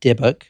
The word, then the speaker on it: dybbuk: you hear that word the deic Box which is spelled D ybb U K debuk that is how you say it Kevin Manis a granddaughter